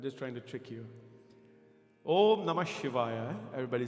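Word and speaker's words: Om Namah Shivaya: Om Namashivaya is the oldest mantra of Shiva. And by itself, Om is not counted, Om is not a syllable, but it has to be in front. Om Na Maha Shi Va Ya. Everybody understand? Na Ma Shi Va Ya. 5 syllable mantras.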